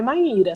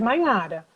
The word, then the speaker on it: Maíra: Rever pronúncia, porque, por exemplo, o meu nome é Maíra, tem acento no I, mas tem muita gente que às vezes me chama de Maíra ou de Maiara, entendeu?